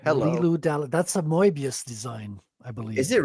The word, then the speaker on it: Moebius: No, was, look, you don't have to say it like a French guy. You can just say Mobius like everybody else, okay?